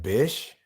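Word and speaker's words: Bysshe: spoke really fast huh it's pronounced Bish I mean how much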